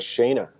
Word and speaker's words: Shayna: Out of 21 lifters, we got Shayna.